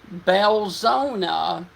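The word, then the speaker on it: Belzoni: okay okay let me correct myself it is pronounced belzona and Angola okay so if you guys are near the area of belzona Mississippi this is going to be coming towards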